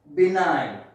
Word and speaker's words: benign: At the end of the word, okay, at the end of the word before N, G is silent. Like resign, design, benign.